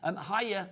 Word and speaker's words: Hiya: Hiya, I think that's how you say it. Hiya, H-Y-A, hiya.